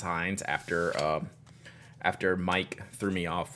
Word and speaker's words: Heinz: It is pronounced Heinz after Mike threw me off last week.